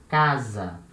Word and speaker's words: casa: of s always when letter s is between two vowels it will have this sound of z but it will have